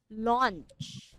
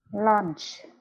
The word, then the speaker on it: launch: And then this one, we say launch, like that. Launch. Lunch.